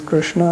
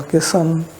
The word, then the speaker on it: Krishna: akshara letter is wrong so name is krishna and people call kisan questo all this different